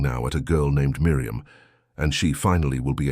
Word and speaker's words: Miriam: Miriam, pronounced Miriam I am with the final accent as is still heard